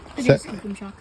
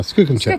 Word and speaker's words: Skookumchuck: Skookum chuck. Skookum chuck. See, he knows. He knows. That's how we say it. That's how you say it. Yeah. Wow. Skookum chuck.